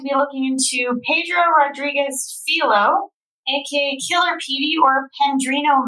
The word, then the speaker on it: Filho: name is pedro rodriguez philo oh pedro rodriguez philo okay i had to look out how to pronounce it because it's spelled f-i-l-h-o i wish i knew